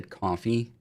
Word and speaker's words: Ko-fi: I think I read once that they wanted it to say coffee, but you know, plus there's like a little coffee cup on the thing.